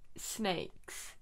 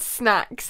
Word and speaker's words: SNAYX: Do you want to go with SNAYX? Okay, good. That's how you say it. Thank you. I said snacks. If I'm not gonna lie, I thought it was snacks.